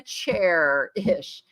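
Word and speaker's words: Chairish: No, it's Cherish, like a chair-ish.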